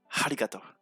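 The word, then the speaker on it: ありがとう: Donc merci se prononce Harigato. Je répète. Harigato.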